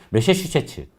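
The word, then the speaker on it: 매사추세츠: 메사슈미츠라고 해야 돼? 뭐라고 해야 돼? 메사추세츠 그러면 되지.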